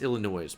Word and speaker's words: Illinois: Is that how do you say that? Oh. Oh, it's Illinois.